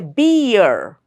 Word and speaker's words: beer: No, we say beer. So the sound is that of EA. So hence, this is a diphthong sound and not a monophthong sound, as it looks like.